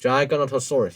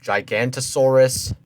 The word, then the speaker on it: Giganotosaurus: example the gigantosaurus Giganotosaurus you spelled it correctly why didn't you pronounce it correctly then I know some people call it Giganotosaurus Giganotosaurus I know at least Giganotosaurus Giganotosaurus Giganotosaurus they still have that no toe instead of you know gigantosaurus that's the dupious genius